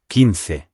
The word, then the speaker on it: quince: spelled Q-U-I-N-C-E. Now, in English, Q-U makes a qu sound, but in Spanish, U after Q is not heard, so this is pronounced quince.